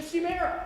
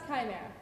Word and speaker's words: Chimera: it's that one thing with the heads the shoe mirror that's right that's right actually it's pronounced Chimera whatever ready for Monster number three go actors